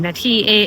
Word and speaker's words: Danshui: Right now, we're in Tamsui. We took the red MRT line to the last stop, Tamsui station written as TAMSUI, but pronounced as DANSHUI in Chinese I don't know why they write it that way in English.